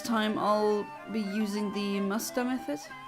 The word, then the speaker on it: Masuda: This time I'll be using the Musta method. I know everyone says Masuda method, but the Sue is not pronounced like that in Japanese.